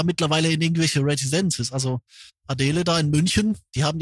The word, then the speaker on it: Adele: Ja, ich habe ähm, wenn ich das jetzt höre, also ich selber finde Adell jetzt oder wie heißt doch? Adel wird aus wird sie ausgesprochen, ne?